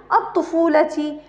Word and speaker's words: الطفولة: في مرحلة الطفولة، هنا أيضا الطفولة، لم ألفظ هنا الألف، لم ألفظ الألف، فقلت الطفولة، لكن هنا تكتب لكنها لا تلفظ.